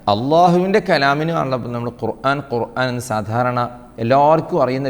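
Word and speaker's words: القرآن: ഖുർആ ഇൽ ഖുർആന അൽ ഖുർആൻ ഖുർആൻ എന്ന വാക്ക് നമ്മൾ ഉപയോഗിക്കുമ്പോൾ അത് കാഫ് കൊണ്ട്തന്നെ പറയണം അതാണ് അല്ലാഹുവിൻറെ കലാമിന് നമ്മൾ ഖുർആൻ ഖുർആൻ എന്ന് സാധാരണ എല്ലാവർക്കും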